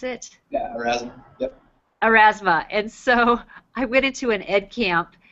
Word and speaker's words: Erasmus: Well, one of the things that I really want to learn how to do is Erasma. Is that how you pronounce it? Yeah, Erasmus.